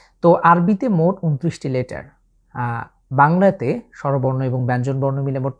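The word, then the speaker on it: باء: এই বর্ণটি উচ্চারণের ক্ষেত্রে আমাদের ঠোঁটের ব্যবহার হচ্ছে।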